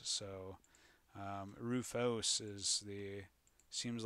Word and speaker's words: Rufus: I always heard it as a Rufus, so Rufos is seems like the more correct pronunciation.